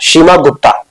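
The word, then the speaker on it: क्षेमगुप्त: के साइलेंट रहता है, शीमा गुप्ता।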